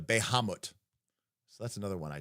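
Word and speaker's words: Bahamut: Oh, if pawn no longer, I always say Bahatmut instead of Behamut.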